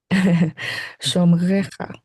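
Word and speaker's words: שֹׁמְרֶךָ: What I was getting at is Annie's done a good job pronouncing that really difficult r, like modern Israeli or French or German R sound, and I'm really proud of her for it.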